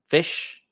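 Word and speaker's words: FSH: just search this stuff fish that's how we pronounce it it stands for fire shorthand um and it's about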